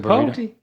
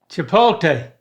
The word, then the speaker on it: chipotle: No, all right, say it as if it ended in L-A-Y. Chipotle. L-A-Y.